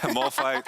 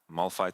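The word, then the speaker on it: Malphite: what it's it's weird someone told me when I say Mall fight it sounds like a fight in a mall like a mall a mall fight how do you say it I don't know Mal fight oh no no Mal fight Mal fight Mal fight okay Mal fight is fantastic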